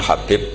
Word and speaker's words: Habib: yang nulis Abi Abdurrahman Habib asulami itu dihakatnya kitab itu ada yang nulis hubb Yang benar Oh giih yang benar itu bacanya habib habib itu asulami itu ikut